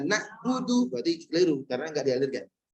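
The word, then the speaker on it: نَعْبُدُ: Ain mengalir sedikit. Ba. Ada ketusuknya. Sehingga ketika iyyaka atau iyyaka kedua harus ngalir sedikit. Nah, iyyaka na'budu berarti keliru karena enggak dialirkan.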